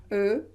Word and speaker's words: eu: conjugué au passé composé est là on ne prononce pas comme ici euh non en prenant ce comment nous prononcer u j'ai pu j'ai eu c'est différent hum hum hum hum la position